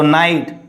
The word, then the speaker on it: night: Okay, so night. Don't say NIGST, night. Night.